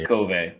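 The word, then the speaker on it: KOVE: yeah yeah is it is it Cove or kov kov is it kov it is kov yeah okay there's been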